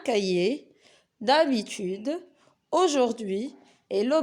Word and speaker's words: cahier: Aussi, on peut trouver le H dans des lettres, dans des mots, je m'excuse, qu'on ne prononce pas, comme le mot un cahier, d'habitude, aujourd'hui et le bonheur.